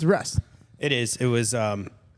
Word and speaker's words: Rusz: come with anything creative it's Russ well that would have been easy R how do you spell it though you don't spell it like rust it's there it's r u z z okay it always threw